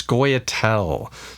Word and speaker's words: Scoia'tael: correct me and said it's Koya tell square tell you can see it right there SCO ia apostrophe tae-il - tricky one to pronounce so I have built a deck out of Scoy Attell and I am going